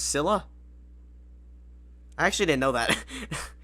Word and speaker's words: Scylla: It's pronounced Scylla.